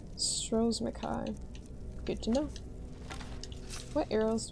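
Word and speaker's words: Stros M'Kai: Once was a woman as fair as an evening of springtime in Oros Mai. It's pronounced Stros Mai. I was always saying straws and Kai. Stros Mai.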